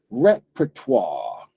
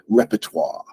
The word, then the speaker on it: repertoire: end it's not exactly how French people say it but we're not good at the French accent so we just basically we've reduced it to the word repertoire and we use that